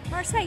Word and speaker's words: Marseille: Marseille, you said it right.